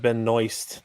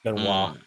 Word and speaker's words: Benoist: Yeah, but then she's also she pronounces it Benoist, which is kind of ridiculous. It's Benoit, but she pronounces it Benoist.